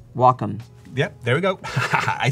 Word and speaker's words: Wacom: let's ask you do you know the correct pronunciation of Wacom welcome yep there we go I said it wrong